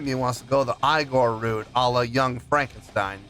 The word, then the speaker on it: Igorrr: Eigor fans feeling you. Come on now. Here we go. No, it's pronounced Igore.